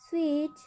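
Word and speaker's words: switch: तो यहाँ पर टी का उच्चारण नहीं होगा। क्या पढ़ेंगे, बेज। इसी ही match, match, स्विच, स्केच, किचन।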